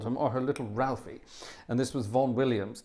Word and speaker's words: Ralph: Now, a lot of people say Rafe Vaughan Williams and give him his posh pronunciation. He hated that. He was Ralph, always Ralph. He never called himself Rafe.